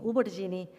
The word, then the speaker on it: albergínia: És el cas de la L, que davant F, Z, B i V passa a pronunciar-se U. Així d'una alfàbia en deim ufabi, d'una alzina, usina, d'una albergínia, ubergini i de salvatge, suvatge.